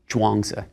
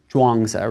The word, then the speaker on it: Zhuangzi: It's spelled in more recent books as Zhuang, and then that Zi at the end. In earlier transcriptions, it'll be spelled Chuang, but it's always Zhuangzi rather than a CH sound.